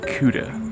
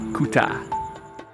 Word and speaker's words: Kuta: the name as well i used to call it kuta before I found out how the locals say it the locals say kuta good bad so there